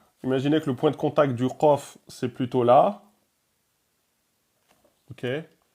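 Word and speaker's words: ق: Et là, c'est la lettre emphatique Qaf, qu'il faudra donc prononcer Qa, Qo, Qi.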